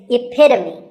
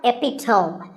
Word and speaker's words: epitome: example of something and the perfect pronunciation of that is epitome it's not epitome once again epitome of course once